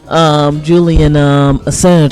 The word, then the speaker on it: Julian Assange: Julian Assange, I think is the right pronunciation for his name.